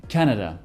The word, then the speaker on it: Canada: Canada, l'accent est sur la première syllabe, alors que dans Canadian, il est sur la deuxième.